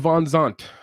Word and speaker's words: VanZandt: Now the name VanZandt, am I pronouncing that correctly? VanZandt?